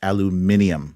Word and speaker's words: aluminium: extra eye to the word aluminum and it's pronounced aluminium which i guess sounds fancier um and then